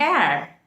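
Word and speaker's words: heir: to make use of and before that an air h-e-i-r air air means uh the one who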